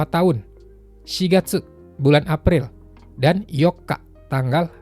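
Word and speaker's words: 四月: Jadinya shigatsu, bukan yonggatsu. Itu juga hati-hati.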